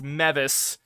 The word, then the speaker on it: Mevis: And I got the kicker's name wrong. It's Mevis.